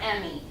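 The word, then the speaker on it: Emmi: I don't know if they're pronounced Emmy or E-M-M-I. They're Emmy, Emmy. like the movies, type of thing.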